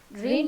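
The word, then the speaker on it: reign: रेन यहाँ पर बारिश वाला रेन नहीं होता, जी साइलेंट रहेगा। रेन ऑफ टेरर मीन्स एक भय का समय काल उसको कहा जाता था।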